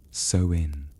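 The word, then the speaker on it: Samhain: They called it Samheimine, spelled S A M H A I N, but pronounced softly so in.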